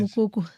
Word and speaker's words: Mokoko: How do you pronounce it? Mokoko.